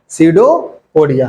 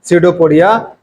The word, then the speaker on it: pseudopodia: जिसको हम बोलते हैं सीडोपोडिया। क्या बोलते हैं इसको हम? इसको हम बोलते हैं सीडोपोडिया। जहां पे पी क्या होता है? साइलेंट होता है।